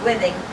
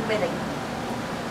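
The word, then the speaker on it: Whiting: I really spell her last name, so I'm not sure how to pronounce it. I pronounce it Whitting.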